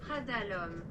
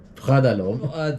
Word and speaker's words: Prada L'homme: Let's pronounce it first. Prada L'homme. Prada L'homme.